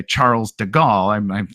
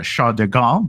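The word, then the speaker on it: de Gaulle: but there was uh I'm American so I'm gonna say Charles deal I'm sure there's a much more elegant French way to pronounce sha deal but uh ultimately he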